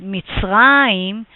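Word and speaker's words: מצרים: But just a very known place is Mitzrayim, which is Egypt, so you can clearly hear the sound of ayin at the end, or Mesopotamia, which is in Hebrew Naharaim.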